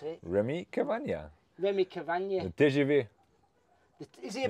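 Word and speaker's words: Rémi Cavagna: How do you pronounce it? Remy Cavagna.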